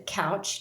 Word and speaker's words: Kautsch: So my name is Kautsch, just like you sit on.